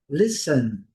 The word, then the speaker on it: listen: Pintado em cinza, a letra não é pronunciada. É o verbo ouvir com atenção. Len sen listen. Listen. A melhor pronúncia, sem pronunciar o T.